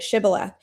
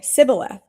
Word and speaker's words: Shibboleth: If the man said, "No, I'm not," they would tell him to say Shibboleth. It was from Ephraim. If he was from Ephraim, he would say Sibboleth, because the people of Ephraim cannot pronounce the word correctly.